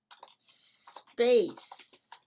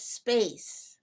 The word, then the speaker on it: space: Remember, in English, we do not use the letter E as a help to pronounce the letter S.